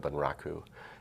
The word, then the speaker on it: bunraku: I worked in a Japanese puppet style called bunraku, and it took 3 puppets, or 3 puppeteers to operate 1 puppet.